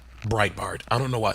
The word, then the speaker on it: Breitbart: But the measure has stirred opposition from the alt-right publication Breitbart. Breitbart. I don't know why. The way it's spelled makes me want to say it with a German accent. It's Breitbart.